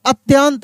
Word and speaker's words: अत्यंत: विक्रांत के बाद में बोला हूं यहां पे अत्यंत। देखिए यहां पे अ इसमें त का उच्चारण तेजी से हो रहा है। तो आधा त हो जाएगा।